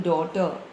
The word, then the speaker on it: daughter: In daughter, again the H is silent.